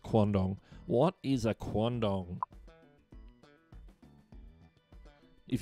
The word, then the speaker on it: quandong: And that's how it's pronounced, quandong.